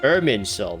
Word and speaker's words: Irminsul: Irminsul, that's how it's pronounced.